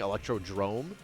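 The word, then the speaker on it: Electrodrome: that uh video that they kept saying electro drrome. I was like, why does this person keep saying it wrong? Turns out I'm the fool.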